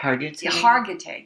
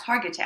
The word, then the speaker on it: Hargitay: Mariska had, I can never pronounce it correctly. It's Hargitay? Hargitay. Yes, Hargitay.